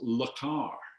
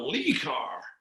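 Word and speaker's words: Le Car: in america they they marketed as la car to give it that kind of parisian chic and um except this guy sitting next to me mispronounced it i said what car have you got he said i got lee carr and so i told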